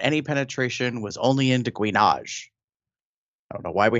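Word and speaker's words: gouinage: It's called guinage. It's spelled G-O-U-I-N-A-G-E, guinage.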